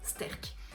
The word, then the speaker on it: STÆRK: a été pris avec le terme sterk et justement c'est quelque chose qui sonne relativement bien que tout le monde peut prendre sterk voilà et qui peut se prononcer en fait directement toutes les langues et comme les pays